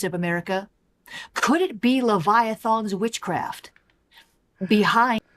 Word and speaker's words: Leviathan: America could it be leviathan's witchcraft behind I like how it's leviathon as far as I know it's Leviathan um the a is not pronounced that way but I don't know